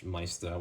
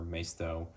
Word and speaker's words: Maisto: Now we'll finish off with this 5-pack of Adventure Force / Maisto or Maisto, depending on how you like to pronounce their name.